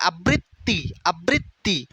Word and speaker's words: আবৃত্তি: আবৃত্তি, আবৃ প্রথম দুইটা লেটার ঠিক আছে, আবৃত্তি, তয়ের নিচে অসন্ত কারণ তয়ের উচ্চারণ তয়ের অটা উচ্চারিত হয় না, আবৃত্তি।